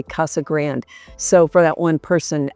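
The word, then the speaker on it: Casa Grande: We don't say Grande, we say Kasa Grand.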